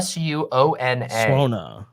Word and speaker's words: suona: called again DM a suona su n AA is how it's pronounced here's some closeup detail